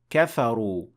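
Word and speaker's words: كفروا: is not pronounced and here kafaru ends with an alif but you will not pronounce it you will not say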